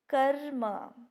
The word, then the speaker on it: कर्म: इसी तरह जैसे यहाँ पर देखिए उदाहरण है कर्म। देखिए कर्म, उच्चारण कीजिए आप भी मेरे साथ, कर्म।